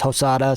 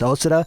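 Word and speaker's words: Hosoda: i pronounce it as hosada sometimes i pronounce it as osada that's purely because there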